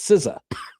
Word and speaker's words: SZA: So now when you see SZA in all caps, you could say to all your friends, you could say, "I know how that's pronounced. It's Siza."